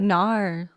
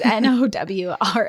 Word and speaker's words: Nowra: Is it like Nar? Like Nar? Nar. Nar. No, it's Nowra.